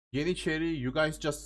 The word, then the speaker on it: Yeniçeri: English speakers say Janissaries or Spanish say Janizaros. But almost all Balkans pronounce it the same way the Turks do. Yeniçeri.